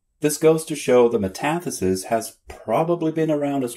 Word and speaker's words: metathesis: A metathesis? No, metathesis. Metathesis is the transposition of letters, syllables, or sounds in a word.